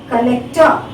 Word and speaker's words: collector: Collector is a noun, but even then, the stress here, collect, second syllable. Here also, collector. Though it is a 3 syllable word, the stress is on the second syllable, in both the words, collect, collector.